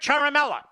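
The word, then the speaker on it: Ciaramella: all of Washington knows it's Eric charmella but you know how to say his name now if you're innocent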